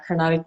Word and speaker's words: Carnatic: She taught you how to sing Indian Carnatic music, if I'm pronouncing that correctly. Yes, yeah, exactly right. Traditional Indian Carnatic music is from the